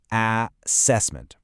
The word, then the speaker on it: assessment: It's not an, it's a. Assessment. The stress is on the second syllable cess. And the last part is weak again. Another schwah. So the rhythm is, you guessed it, du du duh.